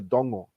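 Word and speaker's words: dogo: just surrounded by mangroves we call it the Dongo which is like this black Mangrove swallows what are you pronounce it again it's it's d-o-g-o but it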